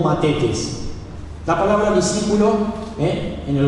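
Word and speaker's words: μαθητής: La palabra discípulo en el griego es mafites. ¿Amén? No es masitas, es mafites. Y algunos lo leen, porque se escribe así con TH, algunos lo leen como matetes.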